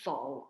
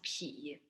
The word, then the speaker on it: 否: So, 否画廊, the name 否, when writing in Chinese is 不 and 口, 否, has two pronunciations. One is 否, one is 皮.